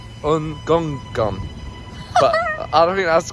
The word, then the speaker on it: Ngungun: That is pronounced. It's Mount Ngungun. Ngungun. Guy at the station was like, "Oh, you're going up Mount Ngungun?"